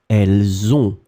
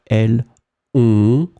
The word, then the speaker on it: elles ont: Elles ont, I make the liaison. Elles ont un beau chien.